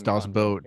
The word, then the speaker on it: Das Boot: Yes, Das Boot. Yeah. My bad. Boot. You say it like you try and do the fake German accent.